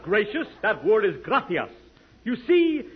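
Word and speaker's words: gracias: it please okay muchas gracious Amigo no no no not gracious that word is graas you see in Spanish the C is pronounced th look graas you see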